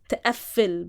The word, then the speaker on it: تقفل: So this is this is the very layer of meaning added by just تقفل, by just stressing the f. تقفل is a verb, تقفل is another verb. Like تقفل is lock.